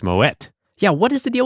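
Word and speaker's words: Moët: You pronounce it as in Dutch with a hard T. Mo. All right. So it is actually Moette brand is so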